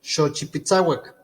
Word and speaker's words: Xochipitsawak: Entonces se forma la palabra completa, xochipitzauac, así se pronuncia. Si nos están escuchando podemos decir xochipitzauac.